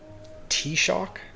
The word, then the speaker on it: Taoiseach: The CH is pronounced slightly different.